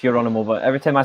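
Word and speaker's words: Gerónimo: wasn't it yeah yeah geronimo your animal isn't the isn't that g pronounced like the h yes geronimo or for them it's your animal but every time i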